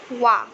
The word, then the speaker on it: one: But in the word one, here the word O, the letter O, it is not pronounced as wa, but instead it is pronounced as it is not pronounced as a, but instead it is pronounced as wa, and means it is an exception in pronunciation.